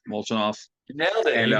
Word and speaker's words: Molchanov: I'm gonna try to pronounce his name, Molchanov. Molchanov.